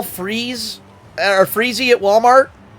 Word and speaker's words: Freeze: And as I say, it's pronounced freeze.